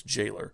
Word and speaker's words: Gaylor: two is against jailor it's spelled gaylor in the manual but it's not gaylor it's jailor he's a hideous fat